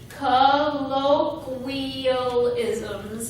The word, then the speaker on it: colloquialisms: because everybody usually butchers this word so it's colloquialisms because how to say that one and it's